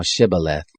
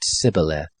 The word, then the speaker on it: Shibboleth: If he said no, then they said to him, "Say now Shibboleth." And he said Sibboleth, for he couldn't manage to pronounce it right.